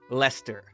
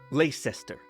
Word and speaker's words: Leicester: Thames is spelled Thames. Why is it not Thames? Look at this word. They say Leicester and not Leicester.